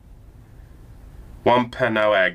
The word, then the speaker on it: Wampanoag: Wampanoag, yeah, Wampanoag.